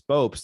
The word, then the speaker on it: Bopst: I think before we recorded, I was saying, you asked me how to pronounce my last name, and I said it's Bopst.